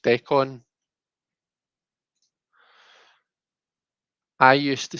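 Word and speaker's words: decan: The con is more like con artist. So do you mean like it should be pronounced decon? I used to say deacon until a snooty astrologer in Oxford corrected me.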